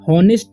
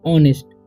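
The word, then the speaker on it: honest: T okay तो इसे नेस्ट नहीं पढ़ना है इसे पढ़ना है ऑनेस्ट ओके एच का उच्चारण यहां पर नहीं होगा तो इसे हम पढ़ेंगे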